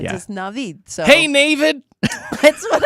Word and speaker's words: Navid: How do you say it? It's Navid. Navid, And he not told me, Navid. Feliz Navidad is how he's like. Navid. It's like without the Feliz Navid. or the da.